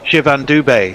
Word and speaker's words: Shivam Dube: Doob. If you're Canadian. Oh, yeah, you'd be just going, A at the end, yeah. Shivam Dubey. Yeah. Needs an acute accent on the E.